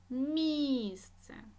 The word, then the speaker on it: місце: е людина наголосна и місце наголосна і музей наголосна е словник